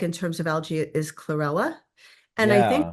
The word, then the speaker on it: chlorella: advocate of chlorella. Chlorella, Yes. My chlorella. friend told me about that. He was calling it cholera, but I Oh, didn't think it sounded right.